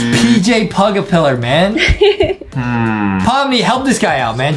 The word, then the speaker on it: Pomni: was really helpful H it starts with palm starts with palm starts with palm rhymes with Omni P are you trolling oh wait a minute is this uh it's pomy it is pomy for the amazing digital